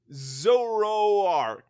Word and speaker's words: Zoroark: It's spelled like Zoro the hero, Ark the large boat.